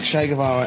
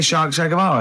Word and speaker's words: Che Guevara: Che is like shake, and his surname is like guitar. Right. Shavara.